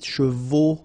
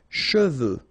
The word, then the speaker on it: cheveux: Usually this one is a bit of a problem because some of the students normally pronounce it chevaux, okay? So try to keep in mind that you get E-U here, so it goes like okay? And then final X not pronounced, final X, should pronounce it the French way. Final X is not pronounced.